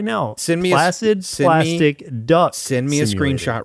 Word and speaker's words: Placid Plastic Duck: you want to talk about too, which is Placid Plastic Deck, which is slightly a tongue twister. It's a deck builder, card battler. A tongue twister in that you said it wrong. Yeah. It's Placid Plastic Duck.